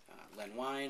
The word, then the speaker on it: Len Wein: Writing by Len Wein, I believe is how you pronounce his name, with art by Jay Lee on Ozymandias.